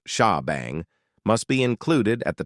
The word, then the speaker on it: shebang: In addition to that, a special line known as the shebang line pronounced sha bang must be included at the top of every PHP script file.